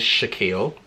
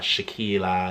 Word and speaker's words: Shakeel: you pronounce your name my name is Shakeel i was spelling there boy as you can see it's in my username and people always get my name wrong surprisingly like it could be written down it could be spout to you and I'll still get people meet when I'm Shae Kyra shock wanna shakeela like it's just Shaquille